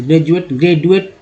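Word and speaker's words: graduate: कि यहाँ डी है, डी को ज क्यों बोलते? ग्रेजुएट ऐसा नहीं, ग्रेजुएशन भी लोग बोलते हैं, लेकिन ग्रेजुएट अच्छा नहीं लगता, ग्रेजुएट ही उच्चारण में आ गया है, तो जाहिर सी बात है ग्रेजुएट।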